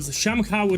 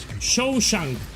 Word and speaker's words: Shawshank: It's called Shamhaug Redemption. I don't know if you know the movie. The dance of death. It was a good movie. I hope I pronounce it correctly, yeah? Shamshak Redemption.